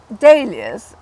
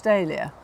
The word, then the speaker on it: dahlia: you think you'll pronounce dahlia? Well, having spelt dahlia for many years, I'm going to go for dahlia rather than dal as in that nice curry sauce.